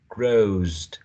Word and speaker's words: grows: Okay, so grow becomes grows, grows, grows, z, z, z. Not grows. She grows. She grows. She grows would be z, z, the correct pronunciation, considering the qualities of u as a voiced consonant, a voiced semi-vowel or glide sound, and the next one should also be voiced.